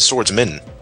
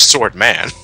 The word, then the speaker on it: Swordman: own not only that he didn't even pronounce his name right he said swordsman I'm yeah I know you're a swordsman but your name is swordman take pride in your